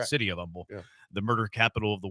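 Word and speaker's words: Humble: it's kind of like Umble the H is silent right city of Umble the murder capital of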